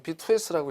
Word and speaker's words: MPTS: 자, MPTS는 이거를 MP2S라고 읽으시면 돼요.